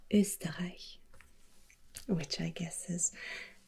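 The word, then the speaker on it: Österreich: liechtenstein and germany and in german you pronounce the name as usta which i guess is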